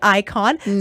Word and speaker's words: Ikojn: Remember, Ikojn, the J is silent and it's Njoki backwards.